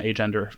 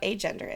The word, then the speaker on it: agender: And I'm pronouncing it like that with more emphasis on the A to acknowledge the A to say without.